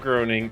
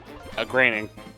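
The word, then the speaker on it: Groening: Granning, but yeah, it is actually pronounced granning. I don't know why. I'm just complaining as opposed to groaning, which is another form of complaining.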